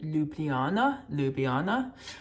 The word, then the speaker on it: Ljubljana: I'm going to book a flight, and I will book the flight to Ljubljana, which is the capital.